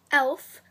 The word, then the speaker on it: e.l.f.: e.l.f. is the brand, and it's always known as e.l.f., unless some people pronounce it as eyes, lips, face. Now, I will be using this sparkly nude.